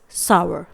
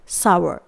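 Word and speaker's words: sour: ओ यू आर दोस्तों इसे सौर प्रोनाउंस नहीं किया जाता है ये एक गलत प्रनंसीएशन है इसे हम प्रोनाउंस करेंगे सवार आई होप आप सभी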